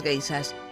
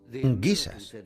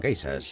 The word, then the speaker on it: geishas: Los soldados oyeron hablar de las gaisas, guisas, como ellos pronunciaban.